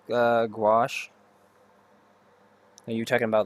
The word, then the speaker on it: gouache: Gouache. Am I saying that? Gouache. Gauche. Sorry, gauche. I always say it wrong. Gauche. It's gauche, gauche, gauche. Need to really learn how to say it correctly.